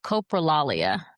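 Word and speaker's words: coprolalia: I don't know if it's the correct pronunciation. Copraalia Tourette's is the type of Tourette's that you're referring to.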